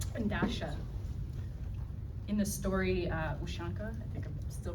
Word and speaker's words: Ushanka: In the story, Ushanka, I think I'm still pronouncing that wrong.